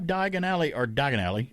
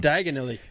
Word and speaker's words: Diagon Alley: It says wizards and witches may have Diagon Alley. Don't say it wrong. Diagonally.